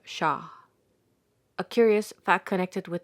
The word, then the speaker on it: Shah: The H in Mahdi is strong and soft in the terminal H of Shah.